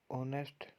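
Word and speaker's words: honest: ऑनेस्ट, हाँ इसमें silent है।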